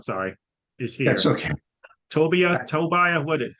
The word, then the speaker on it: Tobias: Tobias is here, Attorney Tobias, I'm sorry, is here. That's okay. Tobias, how I pronounce it again, please? My family pronounces it Tobia, but it does, I